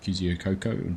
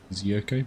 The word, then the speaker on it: Kosciuszko: How do you pronounce it? Kosciuszko? No. Kosciuszko, between Victoria and New South Wales or something like that.